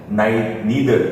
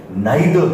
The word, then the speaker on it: neither: Students, उन लोगों को मैंने ये कहते हुए सुना है नीदर, नीदर नॉट. जब ईदर और तो नीदर नॉट. ईदर नहीं है, वो आइदर है. सेम एज दैट वहां पे नाइदर है. इस पे थोड़ा जोर देना, वो नाइदर है, नीदर नहीं है.